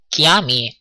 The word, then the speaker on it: chiami: You have noticed that kiami or chiamo, which is written chi, is pronounced k.